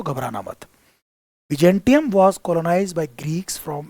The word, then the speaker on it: Byzantium: बिजेंटियम देखिए तो pronunciation बिजेंटियम है।